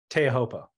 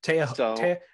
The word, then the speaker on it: Teahupo'o: Can we refer to it as Teahupo'o? Teahupo'o. Okay. Teahupo'o. You gotta add the extra O.